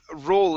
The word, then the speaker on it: roll: uh next is um roll in um okay right here um to roll in make sure to pronounce the l on roll to roll in